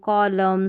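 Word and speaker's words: column: Rule number 10 है silent N इन MN, यानी शब्द के अंत में MN रहता है ना, तो N का उच्चारण नहीं होता। तो ये भी कुछ स्पेलिंग्स आती रहती है, जैसे MN आखिर में रहेगा तो इसमें N का उच्चारण नहीं होगा, जैसे ऑटम, कॉलम, सोलम, डैम, इस तरीके से MN का कॉम्बिनेशन आखिर में ही आता है और N साइलेंट होता है।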